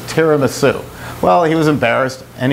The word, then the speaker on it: tiramisu: up on the signs tiramisu and then below it put terra as in land ma is in mother and soup tara